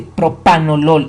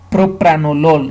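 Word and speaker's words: propranolol: No se dice propanol, es propranol.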